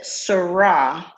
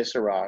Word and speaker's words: syrah: on where it's from so that's french so french it's it's grape it's the same grape chiraz and syrah the same grape in france they say syrah in australia they say